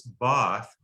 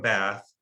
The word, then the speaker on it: Bath: Well, Edwina Trout was from Bath, England, and people from England always say it's Bath. And what I discovered was people who aren't from Bath call it Bath.